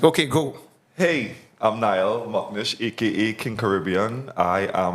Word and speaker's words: McNish: McNish. That's not how you say it, but it's McNish.